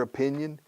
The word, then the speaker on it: opinion: Fíjate cómo pronuncio la O. Primera, de opinion.